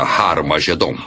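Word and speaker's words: Har-Magedon: E realmente em algumas das antigas versões do Novo Testamento, escritas em grego, Armagedon tem o som aspirado no início, que significa que era pronunciada com H. Originalmente era Har Magedon, e é muito fácil passar de Har Megido para Har Magedon.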